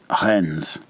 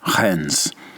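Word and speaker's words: Reims: on the city of Hens. R E I Ms. Hens. There is an M like Mike in the word, but you say more of an N like November in the pronunciation.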